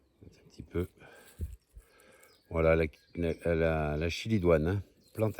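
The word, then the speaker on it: chélidoine: Allez, un petit clin d'œil à ma copine Rose, qui m'a fait découvrir hein, la semaine dernière la chilidoine, hein, qu'on prononce chilidoine.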